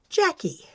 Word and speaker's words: Jacque: My name is Jackie, spelled j a c q u e, and pronounced Jackie.